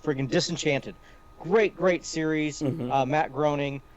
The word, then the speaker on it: Groening: Matt Groening. Groaning rhymes with complaining.